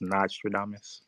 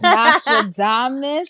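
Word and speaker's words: Nastradamus: So, by the way, my name is pronounced Nostradamus. Oops, sorry. Oh, Like Nas, Nostradamus.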